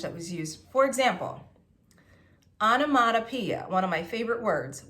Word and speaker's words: onomatopoeia: And let's count how many syllables. Onomatopoeia. I count 6. 6 syllables.